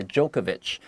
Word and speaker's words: Djokovic: 好，接下来就告诉你他跟哪些网坛好手有交过手、过招呢？Both the Swiss Roger Federer 有来自瑞士的费德勒，我们昨天有提到他嘛，and the Serbian Novak Djokovic or Djokovic，好，那个最后那个 C 很多人会念成 CH 的声音哦，因为他的名字本来就不是一个英文的名字嘛，对不对？这些像乔帅、乔科维奇这些厉害的好手 are among the best that he has ever played.